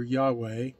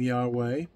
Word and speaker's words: Yahweh: Its pronunciation comes by using the traditional sounds used in the word Adonai, or Lord. Thus, the pronunciation of the sound of the name would be like that of breathing.